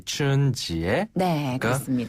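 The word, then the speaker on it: 春节: 목적어가 나오기 때문에 치따이 춘지에 춘절을 기다린다 이런 내용이 되는 거겠죠네 맞아요 어 그렇군요 춘절이 춘지 춘지에 한 번 더 춘지에 춘지에네 봉춘 자를 춘이라고 발음하죠 그러면 그 연휴 연휴는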